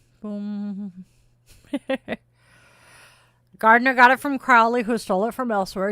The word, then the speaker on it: Crowley: Crowley rhymes with slow.